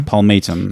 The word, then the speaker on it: palmatum: palmatum Paul made him I would pronounce it differently Paul matum yes it just flows a little easier means like the palm